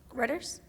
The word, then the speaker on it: Reuters: And I was on Reuters, I think that's how you pronounce it, Reuters.